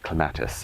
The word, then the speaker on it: clematis: You watch them and they're like, today we're going to tour a clematis garden. And so this is clematis, as the British say.